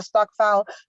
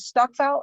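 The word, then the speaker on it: stokvel: and south africa then you can use the stock file then you can use the stockpiler app to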